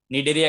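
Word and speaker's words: Cnidaria: अभी डरो मत, शर्माओ मत, अभी डरो मत, शर्माओ मत, अभी कॉन्सेंट्रेशन करो निडेरिया की तरफ, फाइलम निडेरिया। देखो यहाँ पर सी है ना, वो क्या हो जाता है, साइलेंट हो जाता है।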